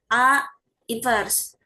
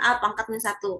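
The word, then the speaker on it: A⁻¹: Ingat ya, ini bacanya jangan pangkat -1. A invers bukan a^ -1 kan.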